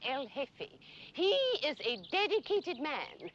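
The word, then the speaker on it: El Jefe: General Isimo Franco is called Elfe the chief. J E F E. The J is silent. Elfe.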